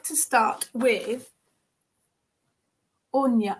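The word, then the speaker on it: Áine: like to start with anya onya thank you that's i i knew it wasn't pronounced as it's spelt a-i-n-e or fantastic um so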